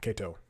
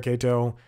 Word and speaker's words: Katow: name it's Kow Kato excuse me don't pronounce it the way that is written Chad yes I spoke